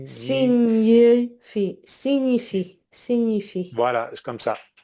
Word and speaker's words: signifie: You might want to pronounce a G in this word, but it's signifie, no G sound.